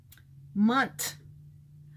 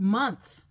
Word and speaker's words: month: i think was wiley he kept saying munt but there's no t at the end that's not the last letter letter h is not silent in the word month it's the they can't